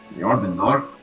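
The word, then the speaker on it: Jörmungandr: one because it's a J and I can't pronounce it. J is in Norse. Jormungandr? Jormungandr.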